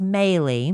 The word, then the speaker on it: Meili: It's pronounced Meile. Meile. Even though it's spelled Meili. Rhymes with Bailey.